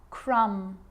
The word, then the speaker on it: crumb: Now there's a rule to remember with the letter B. It's always silent when it follows the letter M. Climb, crumb, lamb, thumb, dumb, and plumber. So practice them with me. I'm not pronouncing the B, I'm just pronouncing the M consonant sound.